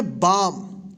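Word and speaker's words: balm: है यहां पे देखिए बी ए एल एम इसको पढ़ेंगे बम यहां पे जो है ना एल साइलेंट रहेगा आने वाले क्लास में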